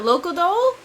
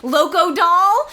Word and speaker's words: Locodol: And I said that kind of mushed together because I think that's how they say it instead of like my Americanism, which would be Locodol, like, which is how I want to say it every time.